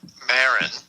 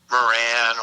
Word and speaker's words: Maron: But a lot of people like this guy, Mark Maron, who the Dopey Nation mispronounced his name as Moran or Dude, listen, off the air, you tell me you think I'm better than Joe Rogan.